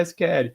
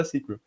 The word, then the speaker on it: SQL: Tipo, a pronúncia, se você fosse botar o pé da letra, seria SQL. Mas tem muita gente que ainda fala SQL. E todo mundo aceita os dois, é isso aí.